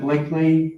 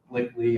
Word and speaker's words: Blickley: I am Blickley. You can call me Blickle if you want to. Most people do when they see my name, but it's actually pronounced Blickley.